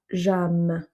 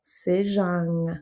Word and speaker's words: sejam: Pas jam. Non, non, non, sejam.